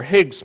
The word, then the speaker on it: Higgs: Higgs has only one syllable. So we all call them Higgs particles these days.